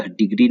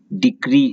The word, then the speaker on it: decree: आप जो वर्ड जानते हैं डिग्री, मैथ वाली डिग्री चाहे साइंस वाली डिग्री, यह डिग्री नहीं है, डिक्री है। जी की जगह पर सी है, डिक्री मतलब निर्णय।